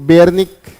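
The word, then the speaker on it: Beijerinck: की उसके बाद एमडब्ल्यू बेयर निक बेयर निक जे साइलेंट है ओके उसके बाद डब्लू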